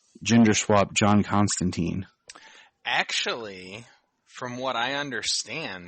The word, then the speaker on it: Constantine: was interesting because also they went with the british i guess proper pronunciation where it's constantine yeah and i was